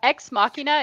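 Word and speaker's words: Ex Machina: and say again uh X Machina it's X and then Machina yeah just spell it like Machina yeah okay got it Shane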